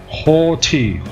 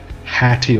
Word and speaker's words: haughty: malevolent male equivalent malevolent horty horty not hatty or something like that haughty supercilious